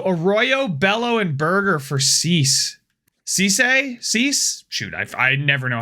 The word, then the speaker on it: Cease: uh Burger so Arroyo Bello and burger for cease cease shoot I never know how to say